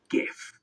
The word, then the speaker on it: GIF: Also, just in case everyone gets annoyed with the way I pronounced GIF just then, GIF. It can also be pronounced GIF. Although the inventor of the GIF calls it the GIF, so, he would know, wouldn't he?